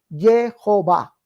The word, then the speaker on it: Jehová: ha derivado en Jehová eliminando la H al final porque la H es muda no toma ningún partido ahí por eso fue eliminada